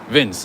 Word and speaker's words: Vince: This is another store, Vince or Vinci. I don't even know how to pronounce it, but. Quick question for you. How do you pronounce it? Vince? Vinci? Vince.